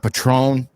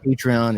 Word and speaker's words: Patreon: the name wrong uh it's not Patron it's patreon it's he reap and